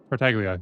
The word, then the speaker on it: Tartaglia: Tartaglia, yeah.